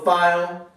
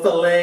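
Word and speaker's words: filé: little bit of this gumbo file or gumbo filet if you want to say it correctly and then we're going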